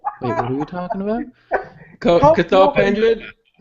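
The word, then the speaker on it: Cathal Pendred: cathal pendri M Goldberg Mike Goldberg was mispronouncing cathal pendri name he kept calling him Carl pendred all night all the whole night even though Joe Rogan kept saying it kind of correctly sitting right next to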